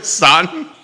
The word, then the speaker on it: Staunton: the days on market for Augusta, Waynesboro, and Stanton, or Staunton. What's the proper way to say it? I mean, I think you're right. There Stanton. You go. Staunton.